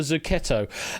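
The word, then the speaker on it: zucchetto: And uh, yeah, good pronunciation on the Zuketto.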